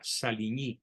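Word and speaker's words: Saligny: el tratado sarco salini se escribe saligni se pronuncia salini en francés y los certifica Francisco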